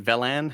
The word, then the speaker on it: Velen: Yeah, I think just the way that Velen and Velan, how do you pronounce it? I think it's Velen, yeah.